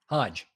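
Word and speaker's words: Hage: Rory Hae, is that how you say it? Rory Hae. Hodge.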